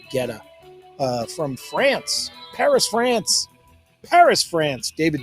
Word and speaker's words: Guetta: David, and I'm going to pronounce it Guetta.